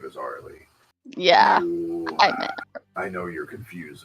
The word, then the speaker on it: Arileigh: Yes, her name is Arileigh.